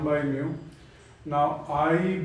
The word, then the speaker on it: mu: index by the way this is a greek symbol which is literally pronounced as mu m e w mu so it is written